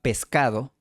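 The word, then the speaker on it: pescado: Por eso mi padre pronunciaba , That is why my father pronounced , y mi madre pronuncia . and my mother pronounces .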